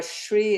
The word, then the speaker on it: Sri: So yeah, there is no H in the spelling, but it is pronounced as Shri. Whenever, S is followed by R in general in names, not in other words.